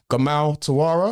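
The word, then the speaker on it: Gamal Turawa: Gamal Tara, have I pronounced it correctly?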